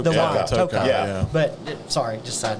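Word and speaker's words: Tokaji: It's and just quick side note, it's kind of like people that say Takaji finish. Yeah. It's Tokai. It's Tokai. The wine, Yeah, Tokai.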